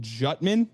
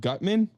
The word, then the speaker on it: Gutman: Uh he said Colt Jutman instead of Gutman, which if it's Jutman, boy, no way.